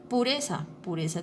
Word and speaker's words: pureza: Pureza tiene el acento en la sílaba re.